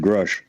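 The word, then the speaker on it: Grusch: We always hear other people, pronouncing it. When he testified, he announced his name under oath, and he said Grush.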